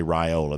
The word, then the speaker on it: Raiola: I am now saying raiola uh you know based on your uh admonition so I'm going to say raiola that's what you say it's supposed to be how it's supposed to be pronounced so Robinson riled a